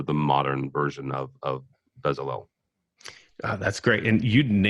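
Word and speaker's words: Bezalel: technical artists are the modern version of of bezel that's great and you na you you nailed the pronunciation there good job you know what you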